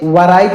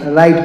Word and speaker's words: write: और यहाँ पर जो W लिखा गया है, यह W साइलेंट है, मतलब इस W को हम नहीं पढ़ेंगे। तो इस तरीके से याद रखेंगे, इसे वराइट नहीं राइट पढ़ना है।